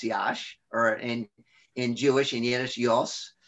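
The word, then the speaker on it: Iași: the region of moldavia is yash i-a-s-i it's pronounced yash or in in jewish indiana um and a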